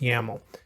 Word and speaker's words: YAML: you can see it's docker-compose.yml which is just pronounced yaml and then here you